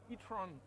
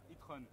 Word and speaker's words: e-tron: C'est l'Audi e-tron. E-tron. E-tron. Faut prononcer à l'anglaise parce qu'en français, c'est plus propre.